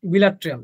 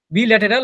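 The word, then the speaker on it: bilateral: বাইরেডিয়াল, আর দ্বিপার্শ্বীয় হচ্ছে বিলাট্রিয়াল। এটা হচ্ছে বিলাট্রিয়াল। হ্যাঁ, বিলাট্রিয়াল, বিল্যাটেরাল বা বিলাট্রিয়াল, যেটা বলবো সেটাই, বিল্যাটেরাল বা বিলাট্রিয়াল, যে কোনো একটা বলা যেতে পারে।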